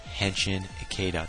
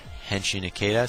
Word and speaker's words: Henshin Ikeda: checking my video out it's pronounced henin aada just putting that out one more time my name on my YouTube account henin aada so now you know